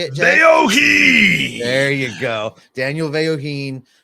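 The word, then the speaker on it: Vellojin: Veoheen.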